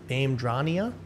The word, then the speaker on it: Vamdrania: Vamdrania is the pronunciation. Most don't get it right.